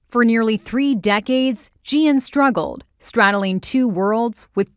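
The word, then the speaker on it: Jieun: Cole has the story my first name is Gian so that's spelled j-i-e-u-n born in Seoul South Korea gianco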